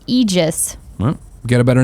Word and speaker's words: Aegis: Kitten Tactic says what we called Aegis is pronounced Aegis.